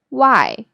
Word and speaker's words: wai: This sound is similar to the word why.